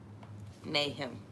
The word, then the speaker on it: Nahum: n-a-h-u-m nahim oh nahim mayhem nay him they said that's how you pronounce it nathan so mayhem 3